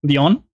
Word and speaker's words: Leon: explains the situation to Leon which is pronounced Le on now you can play